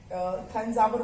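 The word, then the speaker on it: Thanjavur: City का नाम है तंजावुर, तंजावुर बोलते हैं वैसे इसको, प्रोनाउंसिएशन THANZAVUR, तंजावुर इसका प्रोनाउंसिएशन है तंजावुर.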